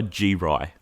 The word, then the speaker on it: G-Ry: Produced by G-Ry, I think.